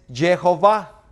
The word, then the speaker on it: Yahweh: Y entonces se llegó a Yahweh, que su pronunciación es Jehová.